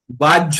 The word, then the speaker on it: বাহ্য: উচ্চারণ হচ্ছে তাইতো বাহ্য যখন আমরা বলব যখন বাংলায় বলব তখন বাহ্য সংস্কৃততে বললে বাই বলব বাই হ এর হই উচ্চারণ হবে বাংলায় ঝ হবে আর সংস্কৃত হলে বাই হবে বলুন তার মানে কিরকম